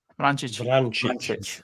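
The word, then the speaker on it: Vrančić: Vrancic. Oh my God. Mario Vrancic. Yeah. And he got... He is me giving you pronunciation.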